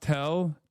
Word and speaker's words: TEL: TL is pronounced tell transporter erector launcher.